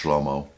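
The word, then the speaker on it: שלמה: It's pronounced differently in Hebrew. I believe it's pronounced shlomo.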